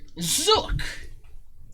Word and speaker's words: Zonk: Just make sure you inform everyone that the N is silent when your show begins, and it should be fine.